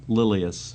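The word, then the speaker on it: Lilias: How do you pronounce her first name? Lilius.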